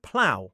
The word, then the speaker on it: plough: It should be cough, rough, and ploff, but it's not. It's cough, rough, and plow.